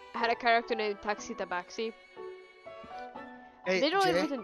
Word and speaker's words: Tabaxi: Tabaxi. And... Yeah, T-A-B-I-X-I? Yep. Soft B.